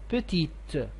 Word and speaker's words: petite: of the adjective so you had to pronounce the t petite and also the same